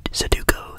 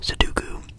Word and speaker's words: sudoku: d o KU s saduko sadoku some people pronounce it in a bunch of different ways I think I just call it seduko seduko it's like a